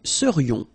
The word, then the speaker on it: serions: So then, final S not pronounced, and then this is this yon, yon. Remember, it goes in your nose, it's nasal, yon. nous serions.